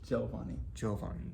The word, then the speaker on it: Giovanni: Giovanni.